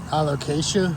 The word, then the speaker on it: Alocasia: I don't even know how do you pronounce that? Alocasia.